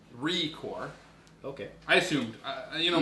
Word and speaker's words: ReCore: up was record record record record record they pronounce it record but recore when we were of course yes joel what